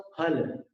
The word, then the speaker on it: फल: मुक्ता फल, फल के उच्चारण में दोनों होंठ मिलाने होंगे। अपन ऐसे हिंदी में फल फल बोलते हैं, वो फ नहीं है, फ है। फ का उच्चारण उर्दू में होता है, एक नीचे नुक्ता लग जाए तो फ हो जाता है। मुझे तुम पर फक्र है, तो वहां पर फ होता है, यहाँ पर फल है, दोनों होठ मिलाकर।